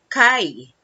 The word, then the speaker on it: chi: it is represented by the symbol x it is pronounced as kai the tribes with high